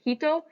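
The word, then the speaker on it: 人: this example we have the kanji for person which is pronounced hito which is the kun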